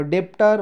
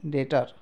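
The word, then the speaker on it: debtor: यसलाई डाउट भन्छ है, अब डेप्टर भन्दैन, यसलाई हामीले भन्छौँ डेटर। ओके, डेटर भन्छौँ हामी। सो यो हामीले बुझ्न पऱ्यो।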